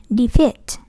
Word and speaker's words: defeat: Thì cái này là âm y dài. Mình đừng có đọc là defeat, defeat nhé. Mình đọc là defeat, defeat.